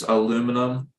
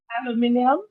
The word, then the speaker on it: aluminium: Because in the US it's aluminum. Do you say that or do you? Aluminium. Thank you.